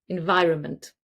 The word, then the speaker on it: environment: So, the beginning is n. The next bit is vi vi. And then we have runment, very short environment. We rarely even say the n in the middle.